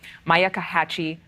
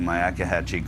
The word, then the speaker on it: Myakkahatchee: remains found in the, let me make sure I say this right, Myakkahatchee Creek Environmental Park.